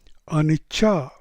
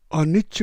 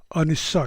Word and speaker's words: anicca: Roman लिपि में अनिच्छ की वर्तनी अर्थात अक्षर विन्यास या स्पेलिंग ANICCA होने के कारण पाश्चात्य देशों के लोग अनिच्छ का उच्चारण बहुधा अनिच्छा करते हैं तथा बर्मी लोग अनिस्सा करते हैं।